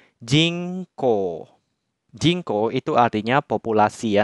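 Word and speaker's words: 人口: Sehingga kanji ini dibacanya jingko.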